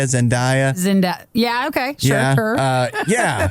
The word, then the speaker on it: Zendaya: timothy chalamet zen how do you say it zendaya zendaya zinda yeah okay uh yeah she's in spiderman